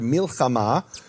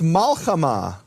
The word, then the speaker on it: milchama: Another example they bring is the word milchama, which is war. And in Babylonian Hebrew, it's malchama, also means war, no difference in meaning, but it's pronounced differently and given a different vowel.